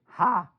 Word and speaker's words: ha: It's spelled ha, and it's pronounced by saying ah with your mouth loud and wide. Norwegians say ha when they didn't hear